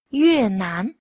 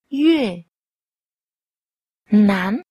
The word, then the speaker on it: 越南: 学日语的时候 Hãy nghe cách nói từ Việt Nam. Yue Nan. Yue. Yue. Nan. Nan. Yue Nan.